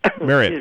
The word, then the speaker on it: Marriott: Marriott.